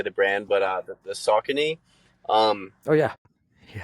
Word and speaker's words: Saucony: know how to say the brand, but the Saucony, um, Oh yeah, yeah. How do you say en- it? Saucony.